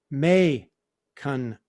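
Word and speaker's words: Macon: about mansion socialist bear it's may cunn county as in bacon god what did we say mackin i don't know no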